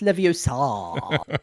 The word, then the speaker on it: Leviosa: so far, yeah, it's pronounced Leviosa, Scott.